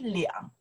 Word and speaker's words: 俩: We pronounce the liang. Sometimes pronounce the lia. Lia means two person. 我们俩, you and me. 我们俩, I pronounce the lia.